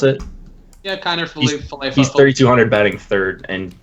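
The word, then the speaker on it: Kiner-Falefa: Is that how you pronounce it? Yeah, Kiner Falefa.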